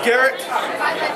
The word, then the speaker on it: Garrett: Guys, Garrett rhymes with Barrett.